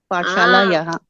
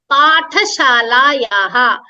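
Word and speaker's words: पाठशालायाः: Pathshala Yaha. Pathashala Yaha. So Path, don't pronounce it as Path. That is how we read it in Marathi and Hindi.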